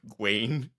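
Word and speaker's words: Gwayne: Guain.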